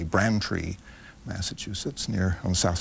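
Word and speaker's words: Braintree: was born in in bran tree or brain tree as it seems to spell but the locals say bran tree Massachusetts near on the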